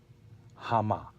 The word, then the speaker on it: המה: And that word today is Hama. Hama. They. And it means more than what your dictionary tells you. Hama is spelled with a hey, a mem, and a hey.